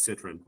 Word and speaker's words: Citron: It's Citron.